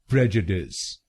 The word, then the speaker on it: prejudice: तो American pronunciation में इसको बोलेंगे प्रेजुडिस, प्रेजुडिस।